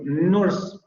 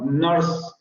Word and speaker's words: nurse: Y nuestra tendencia sería a pronunciar esa R, es decir, nurse, no, nurse. Lo que sucede es que en inglés no pasa realmente eso, sino que es la vocal la que adquiere ese sonido vibrante.